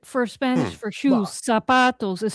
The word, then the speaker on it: zapato: Sapo with an S, zapato with a Z. It's pronounced like an S.